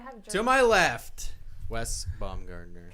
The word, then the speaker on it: Baumgardner: You're going to say it wrong, and then we're going to have To my left, Wes Baumgardner. Can I say it properly? Baumgartner.